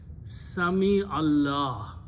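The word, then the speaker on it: سمع الله: Sami Allah, which means you are pronouncing a zair under the mim.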